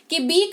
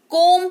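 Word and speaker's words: comb: तो सबसे पहले समझते हैं कि बी कब साइलेंट होगा?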